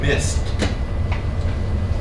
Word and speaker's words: missed: Missed. ED, but pronounced missed. I think the letter when you pronounce the S, Double S? Yeah, it's CH. No. M-I-S-S-E-D. Missed. Yeah, to pronounce ED as a T.